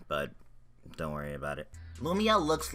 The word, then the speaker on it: Lamia: is a new spell it's called no Meah it's actually called lame eeeh but don't worry about it Lamia looks like a freaking